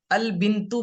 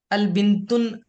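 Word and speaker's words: البنتُ: Okay, तो यहाँ पर हम अल बिंतु बन जाएगा ये। अल बिंतुन न प्रोनाउंस नहीं करेंगे, तनवीन प्रोनाउंस नहीं करेंगे।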